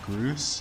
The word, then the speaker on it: Groose: Actually, it would have been funnier if you just said Groose. You mean gross? No, that's stupid. I mean, for God's sake, his name rhymes with goose.